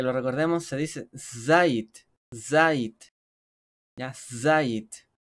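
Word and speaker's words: זית: recordemos, se dice zait, zait, ya, zait. No es sayit, es zait, para el que le gusta ahí pronunciar bien.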